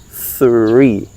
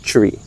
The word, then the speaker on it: three: Measure two, three, right? Three, not tree.